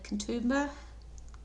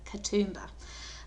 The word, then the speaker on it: Katoomba: i guess part of the sydney region uh kentumba sorry i'll pronounce it better katoomba uh is where the blue mountains are and